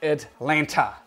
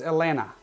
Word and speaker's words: Atlanta: because it is not atlanta the second t is silent so it is elena it is not atlanta